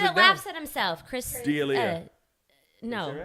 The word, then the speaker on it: D'Elia: laughs at himself, Chris. Delia.